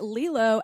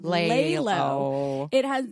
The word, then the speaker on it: LELO: So I also want to say that Lelo has, I'm sorry, see, I said it wrong. Lelo.